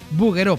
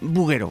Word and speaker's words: Bouguereau: La lección hoy es buguero porque se pronuncia así a pesar de que se escribe en francés.